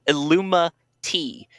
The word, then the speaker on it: ILLUMA-T: It is, and I always have to make sure I say it right, it's called ILLUMA-T. It has nothing to do with an organization with triangles and eyes.